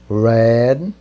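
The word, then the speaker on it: read: jornal você vai colocar dizer Red veja que não mudam só muda a pronúncia o esse verbo ele é uniforme ele tem o passado o presente e o particípio igual então só muda para o anúncio de red the newspaper in e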